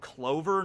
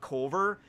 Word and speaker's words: Colver: town and they might think like it's actually called Clover, not Culver, and so they spell